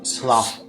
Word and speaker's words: slough: rhymes with cough, or slough. Off.